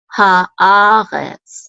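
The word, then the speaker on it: הָאָרֶץ: Ha'aretz, and we have the accent mark on the syllable a, ha'aretz.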